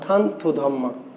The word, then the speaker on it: থানথু ধম্মা: কি এই চন্দ্র সুধর্মাকে আরাকানি ভাষায় বলা হয় কি উচ্চারণ হচ্ছে থানথু ধম্মা থানথু ধম্মা তাইলে আমার নাম